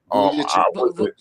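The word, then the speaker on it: Vučević: Check out his name pronounce his name. Vucevic.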